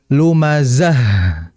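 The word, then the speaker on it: لُمَزَة: Sehingga kita harus membacanya lumazah. Bukan lumazah. Nah, kalau lumazah itu nggak ada aliran. Bahkan nggak ada hamasnya.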